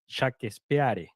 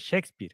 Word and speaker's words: Shakespeare: Um he said he was talking about Shakespeare and he said shakpare because that's the way you should you will pronounce Shakespeare if you pronounce in the way pronounce it.